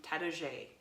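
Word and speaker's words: Taittinger: actually the sister winery from Tadoget, from Champagne, France. So that's their main house. So they're not No wonder they're so good. messing around, you know? It's spelled Tattinger, by the way, in case you didn't know.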